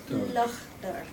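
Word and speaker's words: Lough Derg: ¿Cómo se pronuncia Lochder? Lochder.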